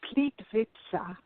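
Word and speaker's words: Plitvice: there and I can't I don't know it's pronounced pleat pizza about plit VI C II and it is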